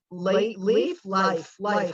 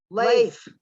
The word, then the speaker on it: Leif: So if you get assigned a game with let's see, Life. How do you say his name? Leif. I always get it wrong.